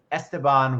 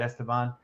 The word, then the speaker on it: Esteban: It's Esteban. Did I say it right, Esteban?